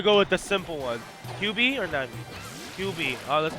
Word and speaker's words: 9B: pronounced QB, by the way. I don't know why everyone is still calling him 9B.